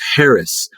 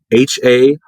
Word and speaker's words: Haracz: Just look up my name and it's spelled just like it sounds. Haracz. Haracz. Haracz.